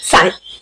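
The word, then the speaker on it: sign: ठीक है, ये क्या लिखा है, साइन। अब इसमें मैंने जी का तो कुछ बोला ही नहीं, ना ही गा बोला ना जा बोला, कुछ भी नहीं बोला, मैंने सिर्फ साइन बोला है, SIN।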